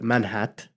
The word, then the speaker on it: Manhat: to use the word manh hat to pronounce the T instead of making the T silent Point well taken is